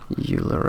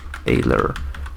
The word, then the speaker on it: Euler: this forum dog rotation is a quatrain your euler angles X so water neons are awesome they're